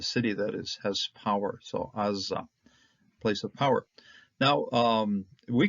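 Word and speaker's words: עזה: Now this is an ayin, Zayin, hey, and if you just read it as such, based on what we know of how to pronounce the Hebrew consonants, we would be calling it Aza, and Aza is power.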